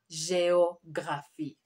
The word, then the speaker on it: géographie: Someone was saying la géographie. No, géo. There is an accent there. La géographie.